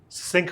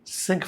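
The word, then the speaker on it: sinc: The quantity sin xx appears extensively in signal processing and is called s i n cx pronounced sync function say s i n excuse me n cx it's pronounced sync function.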